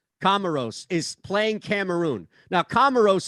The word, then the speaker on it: Comoros: correctly komaros kimono gross is it comoros not commodore like the old computer kamaros is playing cameroon now